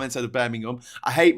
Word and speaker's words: Birmingham: English language doesn't make sense in terms of pronunciation. I've heard Americans talk about going up to Edinburgh. Vendetta saying Birmingham. People saying Birmingham instead of Birmingham.